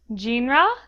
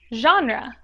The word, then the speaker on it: genre: so it is pronounced genre it may seem a little odd but it is pronounced this way because it comes from the French word spelled and pronounced the same way genre in French it